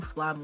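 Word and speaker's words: Flamme: flam bro and then to see flam or flam or flame didn't actually hear the pronunciation like super accurately but I know it's flam um do I know or I'm assuming it's flam um so to see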